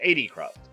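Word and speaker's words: Etho: I always mispronounce his name. It's 80 Croft.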